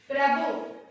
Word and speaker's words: प्रभु: में नहीं, तो प्रभु प्रभु बोलते हैं, भा प्रभु, भा हार्ड से बोलना है। ठीक है बच्चों, प्रभु। तो प्रोनाउंसिएशन है इसका और इसका कैसा है प्रोनाउंसिएशन, भा प्रभु, तो प्रभु, ठीक है, हार्ड से भा बोलना है।